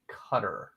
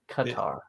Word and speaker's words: Qatar: see Qatar cutter guitar like guitar but cut it's like a guitar but it's a Qatar even though people from Qatar were probably we're probably yeah we're probably offending somebody this is the American pronunciation oh how do the